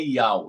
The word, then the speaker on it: Yauh: A pronúncia exata é Ial. E a pronúncia exata do seu filho é Ial Chá.